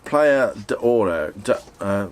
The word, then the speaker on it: Platja d'Aro: I think it's probably pronounced Platja D'Oro. Sorry, let me start that again. It's probably pronounced Platja D'Oro. It's spelt Platja D'Aro.